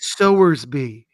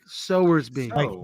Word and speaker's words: Sowersby: And I pronounce it Sowersby. Oh, so like Sowersby, like reaping and sowing. Yeah, not like a baby pig, like Sal.